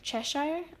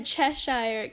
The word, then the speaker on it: Cheshire: think I make like the a chess chessire Chesire I I cannot I'm obviously mispronouncing that but like a chessire sh sh oh my God a Cheshire Cat ride coming up too and that's probably